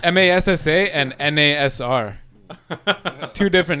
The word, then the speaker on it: Felipe Massa: You know how like, they pronounce error as It's R as in yeah. It's Massa and NASR.